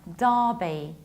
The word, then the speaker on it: Derby: Whenever you have a proper noun and inside you see ER, very often this ER is going to be pronounced like long R. That's why Derby, and that's why Derbyshire, Derbyshire.